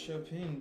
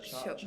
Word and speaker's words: Chopin: Well, I thought it was pronounced Chopin, but I mean, you are the English chopping.